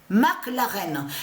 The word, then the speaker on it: McLaren: On sait que attention, parce qu'il faut bien expliquer, McLaren, ça se dit, souvenez-vous que je vous ai expliqué, mais Mac s'écrit M-A-C et plus loin, l'arène. McLaren.